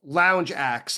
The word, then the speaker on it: Lounge Ax: Their first Chicago gig was at a small bar called Lounge Axe and it's spelled Ax as in the the tool but obviously it's a play on words as in Lounge Act.